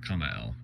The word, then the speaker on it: Cumael: Kamael, K, I think in Hebrew it's usually transliterated from the Hebrew as K-H-A-M-A-E-L, but instead here it's spelled in the Enochian, so go ahead and make your jokes, but it's C-U-M-A-E-L, you know, Kamael, basically.